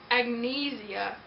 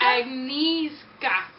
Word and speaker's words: Agnieszka: Agnesia. No. Agnieszka? Agnieszka.